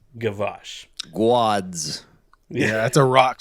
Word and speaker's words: Gwozdz: And his last name is Gwozdz, but I think it's pronounced, and please correct me, I think it's Gavash. Wait a second. Gwozdz. Yes, that's not a typo. That's how he spells it, but I'm pretty sure it's pronounced Gavash.